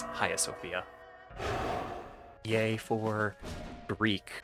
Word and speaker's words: Hagia Sophia: Sophia so early on apparently the g is silent so it's not Hagia Sophia like I've been saying previously it's ha Sophia yay for Greek like